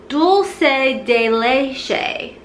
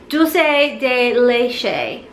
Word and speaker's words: dulce de leche: it down this morning it's actually Dulce delay Shea probably still butchered that but I'm pretty sure that's how you say it dulce de leche and that candle smells